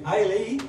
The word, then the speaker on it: Eilidh: acoustic night, well, at the barn welcome, to Eilidh, that's the way you pronounce it, Eilidh Patterson.